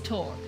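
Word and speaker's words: torc: How to pronounce it is torque torque.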